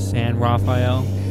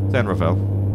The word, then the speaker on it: San Rafael: one of your dads San Raphael San rafhael what is it San Rafael oh San Rafel you got to say it right okay Mission Vio what